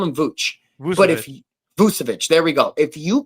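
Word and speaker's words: Vučević: So if you're able to get Nikola Vucevic, I can never pronounce his name right. I'll call him Vooch. Vucevic. Vucevic, there we go.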